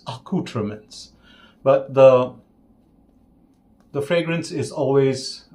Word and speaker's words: Accoutrements: But that's the good thing about, the Fine Accoutrements, pronounced according to Todd Cerami as Accoutrements.